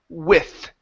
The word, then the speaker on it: with: to the word with give me a t sound instead of an F with with there you go so with writing too small with writing too small almost so instead of an F use your tongue with writing with writing